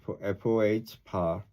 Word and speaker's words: faux: They call these mistakes uh, faux pas, pronounced FOH.